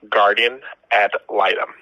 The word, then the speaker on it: guardian ad litem: And how do you pronounce that term again? Guardian ad litem.